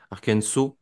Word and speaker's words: Arkansas: Non, après, t'as raison, Niti, t'as raison sur le fait que Arkansas, c'était Arkansas, exactement, si on Hmm. prononce à l'américaine.